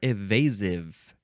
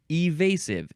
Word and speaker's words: evasive: Evasive is next, or evasive. The first syllable can be I or E. Evasive, evasive.